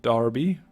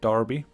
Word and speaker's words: Derby: Battle of Derby which Darby I think you say it like that Darby we're going a bit